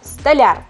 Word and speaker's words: столяр: это слово не исключение правильно будет слова с ударением на букву я столяр красить здание маляр мебель